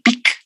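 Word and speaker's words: PEEK: importante una poona que se llama el pic se escribe con una p una doble e y una K que viene del inglés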